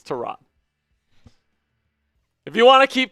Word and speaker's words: Tyrod: So Pewter saying it's pronounced Tyrod. He says it's Tyrod. So that's what we're gonna go with. We're gonna take it right from the horse's mouth. It's Tyrod.